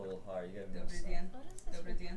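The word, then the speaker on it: день: Gotta be like more soft. Dien. Dien. Not Den. That's like Dien. Dien. Dobry Dien. Is that better? It's still a little hard. You gotta Dobry Dien.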